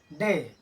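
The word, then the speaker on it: day: इस शब्द को हम पढ़ेंगे डे। इसको अगर डी ए वाई डाय पढ़ते हैं तो क्या होगा? गलत होगा।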